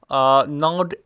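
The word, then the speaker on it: gnawed: बेचैन करना सही है यहां पे जी डियर फ्रेंड्स साइलेंट है क्योंकि इसके बाद डायरेक्ट एन आता है तो इस वजह से ये जो है साइलेंट है जी नड एटम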